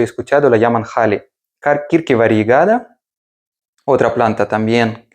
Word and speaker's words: Ahly: La verdad es que si la leemos según las normas de lengua española sería ahí el nombre. Pero todo el mundo la pronuncia como Hali, ¿vale? Así que yo la pronuncio también así.